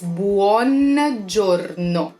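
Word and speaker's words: Buongiorno: good day good morning again you pronounce every vowel so it's Buon Giorno and then we have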